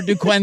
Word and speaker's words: Duquesne: is way Duane okay we have an s in here we're not going to pronounce I think my favorite